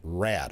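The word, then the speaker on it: Raad: We're going to be talking with Apple Ridge, and I believe it's pronounced RAD, R-A-A-D, about tomorrow's health fair.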